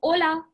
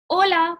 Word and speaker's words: hola: And H is silent. So you say O and then LA would be la. O, la. Right? Hola means hi, how are you?